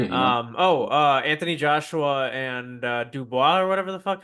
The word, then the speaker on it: Dubois: Anthony Joshua and Dubois or whatever the fuck. How do you say his name? Yeah, Dubois, you got it.